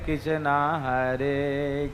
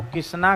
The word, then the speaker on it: कृष्ण: पर मंत्र में आपका ऐसे नहीं चलेगा कि कृष्ण को किसना कह दो, ये मंत्र में नहीं चलेगा।